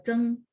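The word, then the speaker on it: 曾: Kalau dia dipakai di marga, misalnya ada orang marganya ini gitu ya, maka dibaca Cheng. Terus satu lagi yang tadi Zeng Zumu, Zeng Zufu, yang tadi buyut ya, sorry, buyut.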